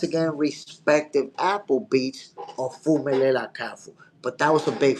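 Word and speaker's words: Phumelela Cafu: Y'all know I fact check myself, and saying somebody's name wrong, that's the goofiest of the oofiest. You gotta respect. Hold on, my people. Fumelela Kafu.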